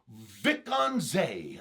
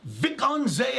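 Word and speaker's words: Wijk aan Zee: And I believe, don't hold me on this pronunciation, please. The neighborhood that you're going to want to stay in is Vikkanzee. I think that's how you'd say it. It's spelled like this, Wijkannzee. So, Vikkanzee, I believe is how you'd say that.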